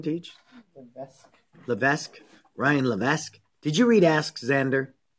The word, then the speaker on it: Levesque: Xander by Ryan the Venice how do you pronounce his last name gage the best Ryan Levesque did you read ask Xander yep so we're